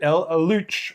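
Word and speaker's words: Luchs: Um Panza 2 Eluch or Lynx in September of 1939. I think it's pronounced like Luke, but anyway, you just go with in shrine.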